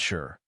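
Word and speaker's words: 四: In Japanese, the word for 4 is pronounced sure, which is a homonym for death.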